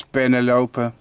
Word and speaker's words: penelope: off my Eacles Penelope, or I should say Eacles Penelope. Because you shouldn't perhaps, well, I think the species could be named after somebody with the English name Penelope, but I'm going by the Latin pronunciations.